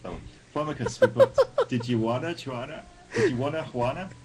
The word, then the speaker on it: Tijuana: Flamicus, we've got Tijuana. Juana? How do you pronounce? I can't do Mexicans. Juana? Do you say the J or do you say H? It's an H. It would be an H.